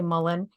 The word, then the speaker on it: Mullein: So that is interesting because we used Mullion for, and I pronounce it Mullion. I know a lot of people say Mullen, but there's a combination